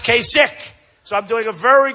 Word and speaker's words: Kasich: more than Kasich and I don't know how you pronounce his name kasik it's I every time I see it I say kich but it's pronounced Kik so I'm doing a